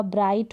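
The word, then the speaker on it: bright: गया दो और फाइट तो इन साड़ी स्पेलिंग में आप देख रहे हैं जी हा है और ग का बिल्कुल भी उच्चारण नहीं है अब यहां पर दो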